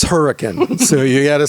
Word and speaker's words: Hurricane: of you who are not local it's not pronounced hurricane it's her it's hurricane so you gotta say it the right way